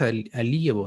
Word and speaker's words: Alievo: Eh, y Javier, coméntanos qué es alievo, ¿no? ¿Así se pronuncia? Sí, Alievo.